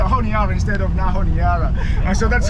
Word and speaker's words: Honiara: Honiara.